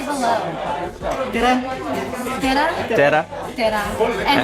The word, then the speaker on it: tere: Tere.